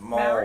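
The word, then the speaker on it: Māori: It's pronounced Maori. Maori. Maori. You gotta Maori. roll your R with it, but you don't have to talk like that.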